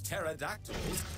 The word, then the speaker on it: pterodactyl: certainly is the t-rex one of the best-known facts about pterodactyls is that they have a silent P which they use to